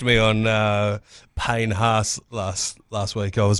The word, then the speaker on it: Haas: Oh, he did correct me on Payne Haas last week. I was pronouncing that wrong.